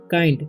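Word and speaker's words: kind: इसे किंड नहीं पढ़ना, इसे पढ़ना है काइंड, ठीक है।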